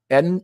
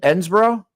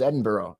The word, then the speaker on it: Edinburgh: How do you pronounce Edinburgh? Edensboro. Ah I that up. Edensboro. It's not Edinsburg. It's I thought it was Edinburgh. Edinburgh. Edinburgh. Edin, but not Edinburg.